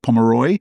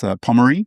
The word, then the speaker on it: Pommery: No, you were almost there, but I think a lot of Aussies do call it Pomeroy. Yeah. I haven't heard it called this, but it's Pommery, Yeah.